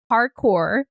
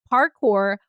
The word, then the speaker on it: parkour: She is the malevolent Tsuki, who is a cowgirl, lesbian, parkour, which rhymes with hardcore in case anyone can't pronounce it like me, parkour, rock climbing coach.